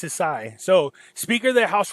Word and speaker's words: Sisi: I believe it's pronounced Sisi.